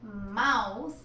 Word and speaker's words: mouth: que practicarla bien porque no es Mouse como ratón es más así que dice así abre la boca y di Ah y el el la castellanización sería del inglés Open your Mouth and say Ah Open